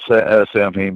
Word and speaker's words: Samhain: So the Sabbath rituals that we honor, and he was right with Samhain, spelled Samhain, but it's pronounced Samhain.